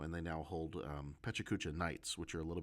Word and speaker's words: Pecha Kucha: It's pachukucha. Even though you may hear other people pronounce it in other ways.